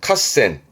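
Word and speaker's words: 合戦: 일단 발음은 카센. 요것도 발음이 핫 발음이에요. 카센. 카센.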